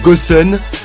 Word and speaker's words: Gusion: héros goût sione donc ça se prononce goossen voilà c'est un mage